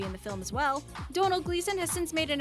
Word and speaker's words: Domhnall: too eight domhnall gleeson you see the way his name is spelled and you're probably thinking to yourself how in the world do you even say that well you heard it early in the title it's domhnall gleeson when asked why his